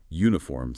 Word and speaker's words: uniform: Practice with words that can be tricky like uniform sounds like you.